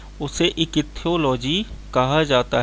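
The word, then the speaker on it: ichthyology: चलिए दोस्तों, इसका सही आंसर ऑप्शन नंबर सी, इकिथ्योलॉजी। जिस विज्ञान की जिस शाखा में हम मछलियों का अध्ययन करते हैं उसे इकिथ्योलॉजी कहा जाता है या इक्थियोलॉजी, सॉरी प्रोनाउंसिएशन में थोड़ा सा मिस्टेक है, इक्थियोलॉजी उसको कहा जाता है, ठीक है ना।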